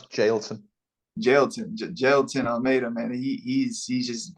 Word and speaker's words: Jailton: This guy, Jailton, how you pronounce his name? I pronounce Jailton.